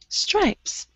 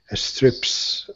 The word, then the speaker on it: stripes: No, not strips. Stripes. Stripes. Yes, and tenga cuidado, when you have the letter S, don't add the letter E in front of it. A store, a step, a stripes. Son incorrectos. Those are incorrect. Just the S.